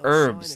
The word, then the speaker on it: herbs: They're not herbs, they're herbs. The H is silent.